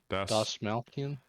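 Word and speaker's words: Dastmalchian: How do you pronounce his last name? Das Malkian.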